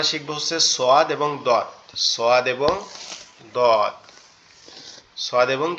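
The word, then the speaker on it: ص: সোয়াদ, দদ, একটা হচ্ছে নরম আওয়াজে হবে সদ, আরেকটা হবে কি মোটা আওয়াজ দদ, দদ।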